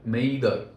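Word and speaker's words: m'aider: Frederick அப்படிங்கிற அந்த radio சமிக்ஞை கொடுக்குறவர் ஃப்ரெஞ்சு பாஷையில் மெய்தர் அப்படின்ட்டு ஒரு வார்த்தை, அப்படின்னா ஹெல்ப் மீ அப்படின்னு அர்த்தம் ஃப்ரெஞ்சில். அதையே இங்கிலீஷ்லேன்னு சொன்னால் மே டே அப்படிங்கிற மாதிரி வருது. ஆக்சுவலாக இவங்க சொன்னது MAIDER, இதுதான் ஃப்ரெஞ்சில் அவங்க ப்ரொனவுன்ஸ் பண்ணது.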